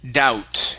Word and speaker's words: doubt: Let's go to, all right, the word doubt. In this word, the B is silent. Doubt.